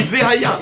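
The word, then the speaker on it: וְהָיָה: Par exemple, au début d'un mot, le Sheva se prononce comme « Ve-Haya Im-Shamoa ». N'est-ce pas? Il y a, on dit « Ve-Haya », on ne dit pas « Haya ».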